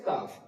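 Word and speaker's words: ك: হবে অফ অফ অফ তারপর কাফ কাফটা অফের থেকে জীবের কিছুটা সামনে থেকে একদম শেষ প্রান্ত থেকে নয় কিছুটা সামনে থেকে উচ্চারিত হবে কাফ তো ফা কফ কাফ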